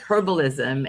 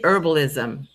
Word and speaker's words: herbalism: But I feel the same way about herbs and like herbalism. And yes, I do pronounce the H.